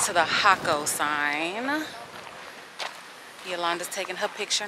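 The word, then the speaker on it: Jacó: Y'all, it's Jaco. It's spelled with a J. I keep saying Jaco, because half the group says Jaco, half the group says Jaco. It is Jaco.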